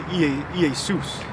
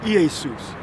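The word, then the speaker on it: Ἰησοῦς: Because the J is a stylized I. So in the Greek, you would say Iesus.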